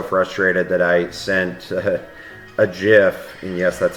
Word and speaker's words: GIF: was getting so frustrated that I sent a GIF and yes, that's how you're supposed to pronounce it.